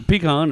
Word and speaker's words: pecan: At least you pronounce the A right. That part's good. It's a pecan, a short A, you know?